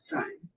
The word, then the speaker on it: thyme: So 1 teaspoon of pink Himalayan salt and half a teaspoon of my dried thyme, also called thyme. It's the correct way to pronounce it.